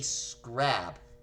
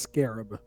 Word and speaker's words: scarab: What is a scrab? And I'm sorry, I can definitively say that that is incorrect. And you did not wager anything. So, I believe that's supposed to be pronounced scarab.